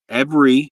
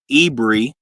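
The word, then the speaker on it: עברי: Proper pronunciation of the word Hebrew is every or Ebri. Some brothers say Ebri and some brothers say every.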